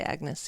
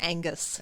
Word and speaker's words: Agnes: pronounce the name right that's how you say Agnes yes okay because Agnes is also a character in Arkham Horror yeah you keep calling her Angus Angus yes Angus um